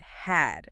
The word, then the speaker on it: had: So, had say it had. It has that short a sound like in cat, right?